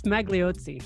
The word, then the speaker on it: Magliozzi: How do you pronounce that? I think it's Magliozzi.